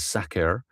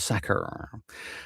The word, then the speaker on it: Sakhr: I'm going to go ahead and say Sakhr. Like if you are saying sack, and you just kind of trail off Sakher.